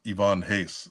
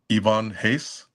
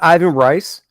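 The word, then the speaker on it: Ivan Reis: say I used to say Ivan Reese is pronounced Ivonne Hace. Uh, I think that was uh around his run. Wait a second. Let's back up. It's pronounced what? Ivonne Hace. It's not Ivan Rice.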